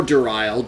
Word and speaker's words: Duriel: If you played Diablo 2, you know exactly who Duriel is. Or Duriel, depending on how you like to pronounce it.